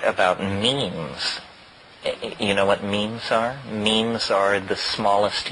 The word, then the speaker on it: meme: means you know what memes are memes are the smallest units of a concept and they're like genes the word is deliberately constructed to to rhyme with gene and so when i